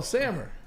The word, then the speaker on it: Samir: do you pronounce it it's sammer like Hammer but with an S oh sammer oh well there you